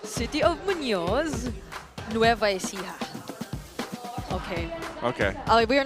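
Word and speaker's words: Muñoz: Man, that is a Yeah, I've always wondered how to pronounce that. No. I like the attempts, but I respect it. Um, it's city of Munoz Nova.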